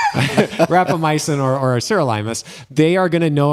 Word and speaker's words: sirolimus: So most physicians who know about rapamycin, first of all, it's usually called sirolimus in the clinical world.